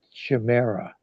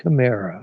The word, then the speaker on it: chimera: I used to pronounce it chimera, which is like a dreamy illusion, but it's really pronounced chimera.